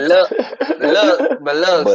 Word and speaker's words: Biloxi: You gotta say it like Biloxi.